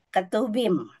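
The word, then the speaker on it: Ketuvim: Kedudukan kitab pengkhotbah dalam Alkitab, dia termasuk dalam rumpun kitab-kitab syair, ketubim. Kalau V dibacanya B, Bapak Ibu. Ketubim.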